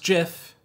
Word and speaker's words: GIF: let's add a little GIF in here and yes it's pronounced Jiff not gif hate me all you